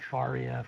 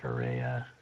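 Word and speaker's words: Farrea: Yeah, you spell it F-A-R-R-E-A. So I've heard Faria, Ferrea. A all sorts of rare, different not ways.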